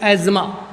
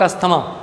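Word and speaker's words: asthma: बच्चों क्या लिखा हुआ है, अस्थमा, ASTHEMA, अस्थमा, लेकिन reality the word is correctly pronounced as एज्मा, नॉट अस्थमा। इस शब्द को इंग्लिश में हम अस्थमा नहीं बोलते हैं, क्या बोलते हैं, एज्मा।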